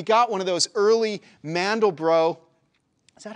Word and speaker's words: Mandelbrot: My buddy had a Windows computer, but what I can remember us doing was we got one of those early Mandelbrot. Is that how you pronounce his name?